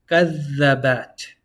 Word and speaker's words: كذبت: كذبت. You hold on to that dhal.